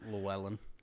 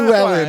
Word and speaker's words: Llewellyn: Like Llewellyn. Llewellyn. It's like a medieval name. Llewellyn, come to me, fetch Sir me my Llewellyn wine.